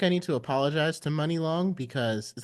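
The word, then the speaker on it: Muni Long: money long because is how you say your name money or Muny I thought it was money think I thought it was money money it's money long oh it's that's on purpose money okay that's not her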